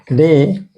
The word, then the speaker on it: the: लेकिन यही द दी हो जाता है यहाँ, दी, when it comes with vowel sound, vowel sound, जैसे द एप्पल, ठीक है, द Indians, द इंक पॉट, इंक पॉट।